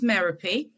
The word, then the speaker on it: Merope: doing it for well my name's merapi rhymes with therapy Greek name bit odd